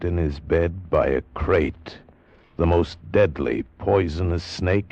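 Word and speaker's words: krait: What kind of a guy Harry Pope was, and what kind of a snake a crate is. First, the crate. You spell it K R A I T.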